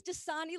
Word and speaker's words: Dosani: my last name is dasani like the water spelled d-o instead of d-a one time